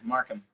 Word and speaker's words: Markham: Is that how you pronounce it? Your last name? Yeah, Markham.